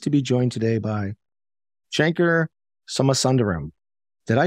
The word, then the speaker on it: Shankar Somasundaram: and I'm pleased to be joined today by Shanker summer sunderram did I pronounce that correctly that is correct all right